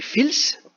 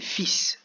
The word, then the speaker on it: fils: écrit fils et sinon on pourrait dire qu'il a écrit filth mais en français c'est un peu spécial des fois il ya des mots qui ne se prononcent pas comme ça s'écrit donc ici ses fils comme si le n n'existait pas c'est le mot fils donc le fils du